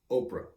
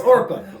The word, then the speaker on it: Orpah: And Oprah. No. Okra. No, you'll get it. Oprah. Orpah. No, it's not. Orpah. It's Orpah. Orpah. I was being silly. It's Orpah. Orpah. Well, that all depends. No, everybody doesn't say it that way. Orpah. The people who are right say Orpah.